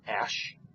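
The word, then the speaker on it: æ: and an e together that's pronounced Ash and if it's hard to remember what Ash if you remember it's Ash the sound of Ash is ah now you might see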